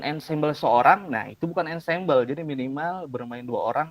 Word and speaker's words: ensemble: dari kata Ensemble yah walaupun tulisan Ensemble tetapi bacanya Ensemble dari bahasa Perancis yang berarti bersama-sama artinya